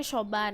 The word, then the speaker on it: Siobhan: Bacanya Shoban.